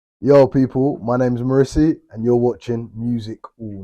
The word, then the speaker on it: Mrisi: Mrisi is the proper pronunciation. Oh, how do you pronounce it? Mrisi. Mrisi. Yeah, Oh yeah, wow, okay. yeah, Well, for those who didn't know, that's how you pronounce it.